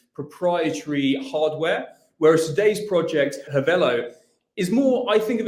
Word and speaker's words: Hivello: It depends what part of the world you're in. I'm an Aussie. I call it Hivello, but I mean, it doesn't matter. I mean, it's spelt the same way, whichever way you say it.